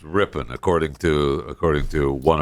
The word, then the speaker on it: Ripon: Ripon Ripon Wisconsin right rippen ripping RI not Ripon RI pronounced ripping according to according to one of our listeners